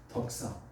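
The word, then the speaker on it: δόξα: 지난번에 얘기했는데 영광, 헬라어로 한번 따라 해볼까요? 덕사. 뱀 덕사했죠? 발음이 똑같습니다.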